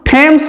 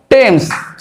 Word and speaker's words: Thames: তারপর দেখো আমরা জানি টেমস নদী প্রত্যেকেই জানি দেখো TH এখানে কিন্তু টেমস এটা বলবো না বলবো টেমস এইচ এখানে কিন্তু সাইলেন্ট থাকছে বা উচ্চারিত হচ্ছে না TAMES আর THAMES সেম উচ্চারিত হচ্ছে এখানে কিন্তু বানান